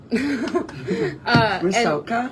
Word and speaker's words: Rusalka: One of my favorite productions I ever was a dresser on was an opera called Rusalka. Call me? Rusalka? Rusalka. Yeah. Can you spell that? Ruskla. Rusalka. It's a Russian opera.